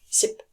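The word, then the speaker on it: 십: 10 number 10 ship so it's not sip but ship and again it is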